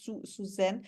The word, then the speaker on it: Susanne: pronounced your name, Susanne.